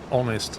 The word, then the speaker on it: honest: start of of word honest I suppose honest is a good example yeah honest is silent are there any others